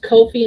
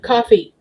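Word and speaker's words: Ko-fi: I am still mad that's pronounced Kofi instead of coffee. It should be coffee.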